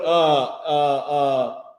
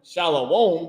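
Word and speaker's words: שלום: He don't put SHALAWOM, shalom. He don't put that because that's not the correct pronunciation.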